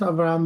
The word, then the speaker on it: Avram: Yeah, it's pronounced Avram, but don't worry. Avram. Okay, yeah, okay, Avram. The tone is on the last A, but yeah, the banners has still my previous role highlighted.